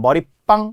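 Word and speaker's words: 머릿방: 뜻하는 머리 방과는 달라요 머리방 발음의 변화가 없기 때문에 시옷이 안 들어가는 거죠 머리방 단 머리 빵 이렇게 빵이라고 되는 소리 나니까 시옷이 들어간다는 거예요 그래서이 계속 발음을 제가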